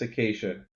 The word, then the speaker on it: acacia: it's acacia in English.